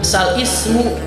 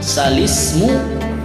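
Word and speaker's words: الاسم: Nah, di situ pada kata balismu, maka dibacanya tidak boleh bal ismu melainkan balismu.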